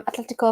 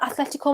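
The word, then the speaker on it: Atlético: has kicked off um yeah i'm glad you pronounced it right um atletico if i'd like to call madrid you and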